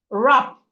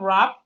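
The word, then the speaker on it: wrap: Rap. We have rap. The W in rap is silent.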